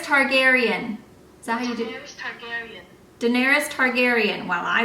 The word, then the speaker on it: Targaryen: Google how you say her name Daenerys Targaryen Daenerys Targaryen and while I was way off